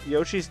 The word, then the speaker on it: Yoshi: steps it's notable but in some Japanese media Yoshi's name is spelled with y ou s sy this is still pronounced Yoshi though and it's down to two different methods of Roman izing Japanese words the so that's my